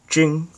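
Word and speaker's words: 京: city and it's pronounced jing which i will write down is also the pronunciation of the word for whale and so when the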